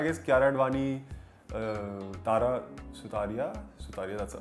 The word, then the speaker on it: Sutaria: Sutaria, that's how you pronounce her name.